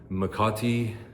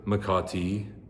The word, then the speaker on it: Makati: is bad, but um Makati um make make a tea um So so I want it to be called Mr.